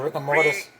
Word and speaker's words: rigor mortis: Yeah, rigor mortis.